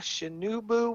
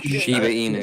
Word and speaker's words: Shiba Inu: It's a Shinubu. What the hell is that thing called? Shiba Inu.